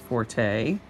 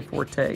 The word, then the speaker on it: forte: The reason that we tend to say forte is because that is how the Italian word spelled in that F-O-R-T-E is pronounced, and in Italian that means loud. It's a musical term.